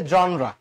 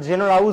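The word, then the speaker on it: genera: এই জেনাসের প্লু হচ্ছে জনরা এই যে উত্তরটা বি নাম্বার জিনিয়াস হবে না জেনেসিস হবে না আবার জেনের হবে না ঠিক আছে এটা হচ্ছে জনরা উচ্চারণটা কিন্তু জেনেরা না উচ্চারণটা কি জনরা একটু আলাদা করে নোট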